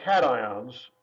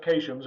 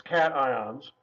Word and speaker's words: cations: ions which are called cations not to be pronounced occasions it looks like it should be said occasions its cations that's there's some positive